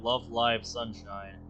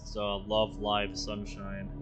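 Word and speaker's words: Love Live! Sunshine!!: chica from the anime love live sunshine the ey in live is pronounced like it's in the word alive I'm specifying because many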